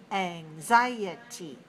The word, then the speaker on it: anxiety: about the next word anxiety anxiety how many syllables do you hear anxiety four syllables where's the stress four syllables stress the second anxiety anxiety is